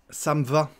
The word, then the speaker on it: ça me va: Ça me va, ça me va. On mange le E, encore une fois, ça me va.